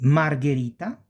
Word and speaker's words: Margherita: So since there is the H, the G goes G, not J, G, because we have the H. So ge, gi, because of the H.